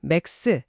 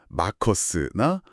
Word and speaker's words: MACRS: 서류 보니까 MACRs 맥스 이게 자주 나오던데 이건 또 뭔가요? 아, MACRS 맥스는 아니고요. 마커스나 뭐 그냥 MACRs라고 읽는데 이게 수정 가속 삼각법이라는 거예요.